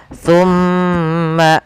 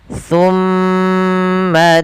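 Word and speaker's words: ثُمَّ: Apabila ada nun tasydid dan mim tasydid, maka kita tahan dan kita masukkan ke rongga hidung kita pelafalannya. Summa sambil ditahan dua harokat.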